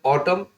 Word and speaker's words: autumn: ठीक, आगे पढ़ेंगे ऑटम, AUTUMN, ऑटम, ऑटम का मतलब होता है पतझड़, शरद ऋतु। पी साइलेंट वाले वर्ड्स देख लेंगे, साइकोलॉजी, देखिए साइकोलॉजी